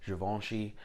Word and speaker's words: Givenchy: That is the proper way to say it, by the way. Givenchy. It's French. Look it up. Go take a French class.